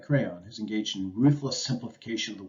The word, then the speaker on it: Creon: of the king of creon or crayon actually is how that's pronounced just like the crayola writing instrument right nicely said but